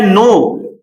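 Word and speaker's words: know: यहां पे देखिए नाइफ है। ये के हमारा साइलेंट हो जाएगा।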